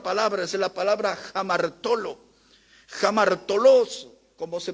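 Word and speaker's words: ἁμαρτωλός: Jamartolos, como se pronuncia, es un término relacionado con un ladrón.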